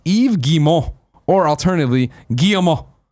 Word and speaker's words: Yves Guillemot: Yves Guillemot is pronounced Yves Guillemot, or alternatively, Guillemot. There's no S sound on Yves, no I sound, T sound, or nasal N sound in Guillemot.